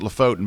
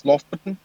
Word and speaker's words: Lofoten: beautiful shot of, and I always pronounce it Lofoten, but it's probably not pronounced that way. How is it pronounced? I think it's Lofoten. Lofton? Or Lofoten. Lofton? I think the T's a bit soft.